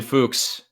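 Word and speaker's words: Fuchs: left back cult hero Christian fuks say it with me Christian fuks not the other pronunciation charlot Williams he was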